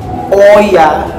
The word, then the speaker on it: Oia: It's called Oya. O-I-A or Iya. Sabi nila, Iya daw yung proper way to pronounce it.